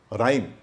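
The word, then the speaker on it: rhyme: G के बाद silent होता है, R के बाद साइलेंट होता है, रिसस, राइनो, रिदम, राइम, उसको राइम नहीं बोलेंगे।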